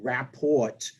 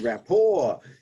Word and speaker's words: rapport: yeah building rapport yeah it's not rapport by the way it's rapport a french word um that's spelled r a p p t so that's why you were joking about it because it is a t but it's a silent t for the french word right so your